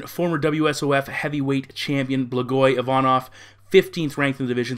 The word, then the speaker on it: Ivanov: For Ivanov, again, I have a tendency to put an extra syllable in there, which is incorrect. Ivanov had a 5-fight winning